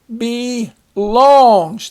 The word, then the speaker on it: belongs: book belongs to me notice that e is long because it's at the end of a syllable if you spell it if you divide it there it would be Belle Ong and that wouldn't make sense next we have birthday